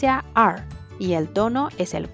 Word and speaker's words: 二: The number two is pronounced (er4) and the tone is the fourth, the letter "e" to pronounce you have to put your mouth as if smiling, the tongue a little